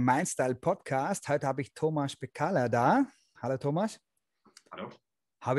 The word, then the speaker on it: Tomasz Pekala: Heute habe ich Thomas Bekaller da. Hallo Thomas. Hallo. Habe ich den Namen richtig ausgesprochen?